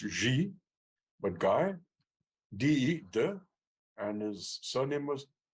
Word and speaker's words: Guy: of short story it was called um GUI guy which is actually pronounced ji but guy and his surname m-a-u p a